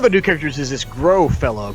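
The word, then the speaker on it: Grøh: So, one of the new characters is this Grow fellow, correct? Am I pronouncing that correctly? I believe it's Grow. It has one of those, I think, Scandinavian O's.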